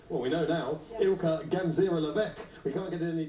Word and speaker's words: Ilka Gansera-Leveque: How do you pronounce her name? All those things. Well, we know now. Yeah. Ilka Gansera-Leveque.